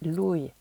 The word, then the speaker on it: lui: Ensuite, pour il et elle, c'est lui et lei, on prononce bien toutes les lettres.